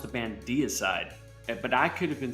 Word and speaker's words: Deicide: Usually DI is pronounced die. Yeah. Like Opus Die. I think it's Deicide. Deicide, okay. Like the German E. German, absolutely. It's German. What is that? What's the significance of that again? Oh, just like pronunciation in German, like EI makes an I sound, IE makes an E sound.